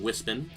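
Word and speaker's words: Wispon: the whis puns and yes I know some people pronounce them wisping but I heard wisp on first and that's what I will continue to call it because it's already habit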